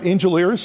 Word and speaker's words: Angelaires: And Norma Herbers and the Angelaires will help us also, right? Did I say it right? Angelaires, is that it? Yeah, it's good, yeah.